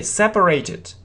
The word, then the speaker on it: separate: То же самое слово, только оно используется глаголом. They separated. They separated. Видите, только другое произношение.